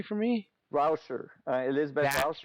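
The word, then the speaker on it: Rauscher: Pronounce it correctly for me. Rouser.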